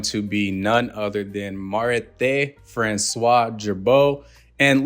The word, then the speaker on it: Marithé François Girbaud: be none other than Mar Francois jbo and listen to this pronunciation if I said it wrong FR is how it said in French throughout this video when